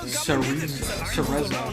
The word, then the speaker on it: Cereza: It's pronounced Cereza. Oh, Cereza. Oh my god, I was pronouncing it like an Italian.